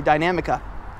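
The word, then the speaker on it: Dinamica: Yes, I said it correctly, Dynamica.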